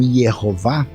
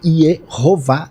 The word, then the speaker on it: Yahweh: Porque assim, do jeito que aparece o nome, aquele nome que o pessoal lê hoje como Yehová, isso foi uma transposição de vogais da palavra Adonai. Como não se sabia a pronúncia, eles pegaram o A, né, e ficou aqui por uma questão fonética, Yehová, de onde veio Jeová em português. Mas os estudiosos, eles dizem, alguns acham que seria Yahvé, o que não está